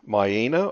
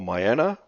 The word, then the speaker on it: Miena: We're going to begin our journey in Miena or Miena, whichever way you want to pronounce it, and go across to the Geographical Centre of Tasmania, and then journey up the Lyell Highway to Queenstown.